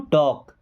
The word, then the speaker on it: talk: अब देखिए स्पेलिंग इसकी, TALK। एल यहाँ पे साइलेंट होता है। ओके, लास्ट में अगर एल के बाद में के आता है या एम आता है तो एल साइलेंट होता है, मतलब इसको नहीं पढ़ा जाता है। ओके, ये साइलेंट लेटर होता है।